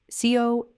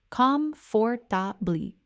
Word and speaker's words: comfortable: Now, the way most learners say this word is comfortably, giving equal weight to each syllable and making sure the second syllable is nice and clear. But the way native speakers actually say it in normal flowing speech is quite different.